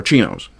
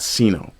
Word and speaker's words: CINO: They are chinos. C I big M. Big O conservatives and name only. Pronounce it chino, not cino. We're not talking about the Chinese.